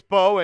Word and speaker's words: Mbow: Marcus Mbow, and it is Mbow. The M is silent, so don't be the people that go around saying, the Giants drafted Marcus Mbow. Don't be that guy.